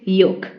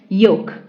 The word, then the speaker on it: yolk: is yolk no it's yolk yolk okay L is silent it's yolk meaning the yellow middle